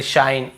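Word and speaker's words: shine: ए को ए पढ़ेंगे आई है तो आई ही पढ़ेंगे शाइन ई है तो यहां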